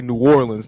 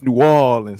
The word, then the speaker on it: New Orleans: Don't nobody from New Orleans say New Orleans. It's New Orleans. They take their time to get all those syllables.